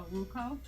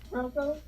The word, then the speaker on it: Roku: I have, actually, a Ruko. Is that how you say it? I have no idea. Roku?